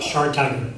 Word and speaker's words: Schartiger: You pronounced it Schartiger? Schartiger, yes.